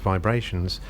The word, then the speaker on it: VIBErations: ah vibrations podcast part two hinatan plantation coffee hi i'm gary breitman and this is my weekly podcast pronounced vibrations but spelt vibe rations vibe is a book